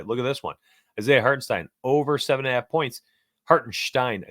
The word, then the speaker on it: Hartenstein: Isaiah Hartenstein over 7.5 points. Hartenstein, I think is how they actually pronounce it.